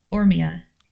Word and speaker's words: Ormia: Is it Ormia? Like the emphasis there. I want to make sure I'm saying it right for you. Ormia. Ormia. I guess Ormia. Okay, I'll just think like Mia.